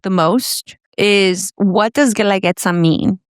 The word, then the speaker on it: Guelaguetza: What does Guelaguetza mean? I mean, how do you even pronounce it, right? And Guelaguetza, it's a word in Zapoteco.